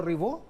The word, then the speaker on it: Ribó: Estamos con Ribó, así se pronuncia tu apellido, ¿no? Así se pronuncia. Bueno, yo soy Ribó, soy abogado de la